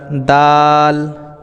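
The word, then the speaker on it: دال: দেখতে পাচ্ছেন এটা তো এটাকে আমরা দাল দাল একটু টেনে এক আলিফ পরিমাণমত টান দিয়ে আমরা দাল উচ্চারণ করব এরপরে আমরা শিখবো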